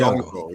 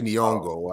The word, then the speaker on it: Nyong'o: So for folks who haven't heard, De Beers announces pronounce the sister's name. Lupita. No, her last name. Nyong'o. That's how I say. I say Nyong'o.